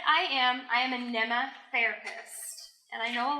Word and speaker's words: Mneme: am I am an emma therapist and I know a lot of you see the word on theirs how do you pronounce that rhymes with Emma but with an M or with an in and I'm like I